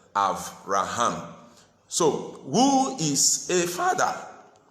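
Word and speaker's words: אברהם: You know, we normally pronounce it Abraham or Abram, but the Hebrew way of pronouncing it is Avram and Avraham.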